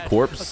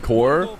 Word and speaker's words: Corp: And why do people keep pronouncing Corp like it's Corpse? K-Corp did fight back, but first like Karmine Core, like without saying the P.